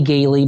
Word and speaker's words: Galie: of what I do, the spelling of my last name is a little weird. My name's Galie, but it's spelled Galie. For some reason, those 5 letters confuse 80% of the people, but it's Galie.